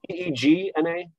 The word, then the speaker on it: Zegna: Is it Z-E-G-N-A? Z-E-G-N-A. Okay. I won't even, it's Ermingeldo, the first name. I'm sure I butchered that pronunciation, but Zegna, yeah, very well-known Italian design house.